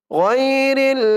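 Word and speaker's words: غير: গয়রিল মাগদুব, গয়রিল মাগদুব, বাজের বি, গয়রিল মাগদুবি। অনেকে বলে গায়রিল মাগদুবি বলে, গায়রিল বলা যাবে না, বলতে হবে গয়, গয়, গয়রিল মাগদুবি।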